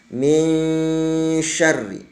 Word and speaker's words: min syarri: Tanwin bertemu dengan shin, maka di situ akan terjadi hukum yang namanya ikhfa. Jadi bacanya harus min syarri, tidak boleh min syarri, tidak boleh ya. Tapi harus diikhfakan, min syarri.